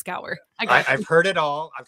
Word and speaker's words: Gower: and his name is Gower I hope I did not completely like just brutalize your last name there did I say it right it was perfect okay you should have